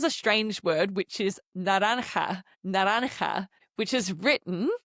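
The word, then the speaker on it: naranja: Now orange is a strange word which is naran which is written n a r a a n j a n a n a nanha which is a bit of a tricky one to pronounce.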